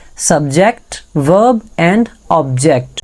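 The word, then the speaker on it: verb: बाद आता है वर्ब इसे आपने वर्ब नहीं पढ़ना ई के बाद अगर आर आ जाएगा तो आर साइलेंट होगा इसे आपने पढ़ना है वर्ब और तीसरे नंबर पर हमारे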